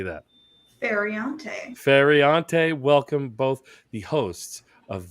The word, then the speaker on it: Feriante: I don't want to mispronounce your last name, Amanda. How do you say that? Feriante, welcome both the hosts of These Are Bad Movies.